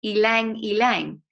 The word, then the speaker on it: ylang ylang: And it says, did you know that ylang ylang is pronounced ylang ylang? Did you know that? Yes, you knew that. Okay, good. No, okay. So the Y is pronounced as an E.